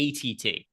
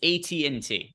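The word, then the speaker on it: AT&T: elders Craig you shouldn't you shouldn't pronounce a T and T wrong probably not you shouldn't call it ATT it's a TNT but neither here nor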